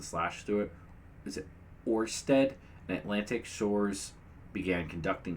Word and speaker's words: Ørsted: Last year, the energy companies, how do you pronounce that? Oh, with the slash through it. Is it Ørsted and Atlantic Shores began conducting seafloor surveys of